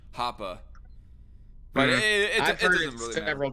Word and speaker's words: Hoppe: heard it pronounced like hoppe like with a short e not a long beard whatever actually it's not even pronounced with a short e sound it's more like a short a sound hopper but it depends on